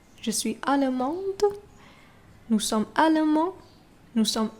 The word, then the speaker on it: allemande: But when it's feminine, you add the E at the end. You have to pronounce it as allemande. Okay, allemande.